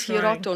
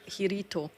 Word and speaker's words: Hiroto: No, his name is Hiroto, not Hiito.